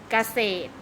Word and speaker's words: เกษตร: มา ดู นะ คะ ไม่ ออก เสียง รอ เรือ ที่ อยู่ หลัง ตัว สะกด กัน บ้าง เช่น เกษตร ๆ มิด Place รอ